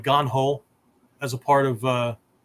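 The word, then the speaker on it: 眼: areas for development right ganho ho is Method rules uh ways or whatever and Gan is I right the other pronunciation May right so meki right how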